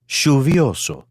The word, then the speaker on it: lluvioso: In Argentina and Uruguay, you may hear it pronounced as SH, for example. Lluvioso.